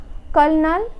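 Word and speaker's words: colonel: जहाँ की ओ साइलेंट होते हैं, ओ ज़्यादातर साइलेंट नहीं होता है। जैसे कर्नल, सल्यूशन एंड पॉल्यूशन।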